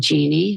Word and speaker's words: Jeanne: PPP because my last name is and Genie which is I spell it kind of strangely j a n NE